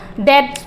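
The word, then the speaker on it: debts: कर पाए हैं और इसमें जो टी बी होती है यह साइलेंट होती है इसको डेट्स बोलते हैं नेक्स्ट वन देखेंगे कम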